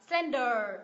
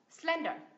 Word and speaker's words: slender: gì nhỉ Slender Slender thay vì đọc là Slender mình đọc là nhấ V tiết thứ nhất Slender Slender ở cái phòng